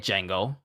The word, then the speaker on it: Django: name is spelled he's it's you say it Django and his uh his name is spelled Django there's actually wait a minute but